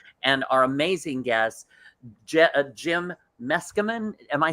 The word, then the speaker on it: Meskimen: our amazing guests jim meskerman am i saying that correctly you are very good him out yeah you just take a running lead let's come in it rhymes with masculine that's how i i